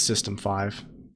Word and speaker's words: System V: __ ] up if so yeah it is system five I've always said this system V2 oh like